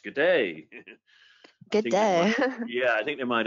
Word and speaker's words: GDA: I think they pronounce it, well, yeah, you think GDA 2020, and then you realize, oh, it's G'day.